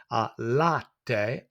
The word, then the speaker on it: latte: Latte, the A sound for the A, and the A for the E, latte, the pronunciation of the vowels.